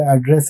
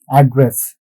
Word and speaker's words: address: When it comes to this location details address, the stress is on the first syllable. So this particular syllable, first syllable, we put the stress. So that's why it would be address. But when it comes to this particular word, to speak, to, the stress would be in the second syllable.